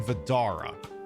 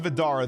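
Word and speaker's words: Vdara: and we are standing outside the Aria and Vidara. The Aria is a, too big. So, yeah, exactly. So yeah, the Aria, god damn it. So the Aria and Vidara.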